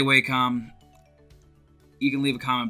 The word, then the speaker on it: Wacom: have always used are wake up or Wacom or walk them I say Wacom you can leave a